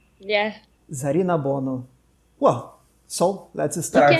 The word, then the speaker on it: Zarinabonu: What's the correct pronunciation of it? Zarinabonu. Yeah. Zarinabonu.